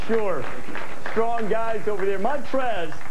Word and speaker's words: Montrezl: Montrez has a silent L in his name, which is unlike anything Jay has.